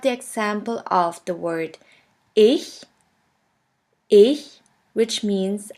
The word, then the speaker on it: ich: In the first case, this letter combination sounds simply like the H in the word huge. Here we have the example of the word ich, which means I.